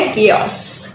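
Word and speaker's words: chaos: ठीक है, तो इसका प्रोनाउंसिएशन होता है केओस। इसका सही प्रोनाउंसिएशन होता है केओस।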